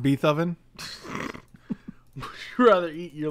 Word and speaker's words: Beethoven: beethoven was pretty cool it's pronounced beethoven would you rather eat